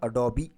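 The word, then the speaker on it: Adobe: यहां देख लीजिए ओके कई सारे लोग इसको अडॉप्ट प्रोनाउंस करते हैं बट करेक्ट प्रनंसीएशन इसका एडोब ठीक है स्पेस देकर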